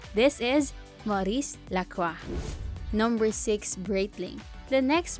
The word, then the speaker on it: Maurice Lacroix: hardest to pronounce Brands just be careful that the eggs at the end doesn't need to be pronounced this is Maurice Lacroix number six Breitling the